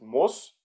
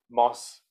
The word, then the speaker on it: Mass: Ja, also jetzt die Aussprache Mass, ja, das heißt nicht Moss oder Maß, sondern das ist ein kurzes A und sehr viel S, also Mass.